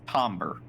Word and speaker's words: timbre: The tomber. Tombber. Yeah, it's it it's spelled Timbre, but it's pronounced tober, which is a something I learned at my